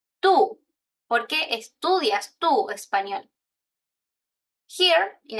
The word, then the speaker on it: por qué: Even in the pronunciation, you have por qué, por qué. And the answer is porque, porque. So the stress, por qué versus porque.